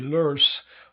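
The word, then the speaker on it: loess: it's a product called lus l-o-e-s-s or if i were to give it the correct german pronunciation would be nurse but o and e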